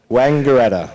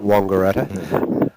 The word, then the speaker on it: Wangaratta: that i mispronounced today Wangaratta yeah the locals will get right on you if you call it longer Etta well I asked for